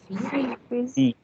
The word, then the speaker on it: fils: So you're pronouncing the this thing here. What do we say? The S alphabet here. Fils. Okay, and the L is not being sounded. That is kept silent.